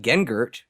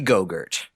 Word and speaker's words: Gengert: His name is Barry Gengert, but everyone always gets his name wrong and calls him Barry Gogurt.